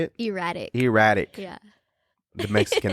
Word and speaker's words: Eratik: Erratic.